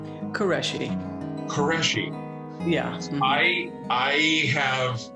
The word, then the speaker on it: Qureshi: Qureshi.